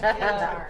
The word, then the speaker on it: Qatar: She actually has overseas experience in Qatar, I think. Is that how you say it, Mr. Yeah. Noble? Yes. Qatar.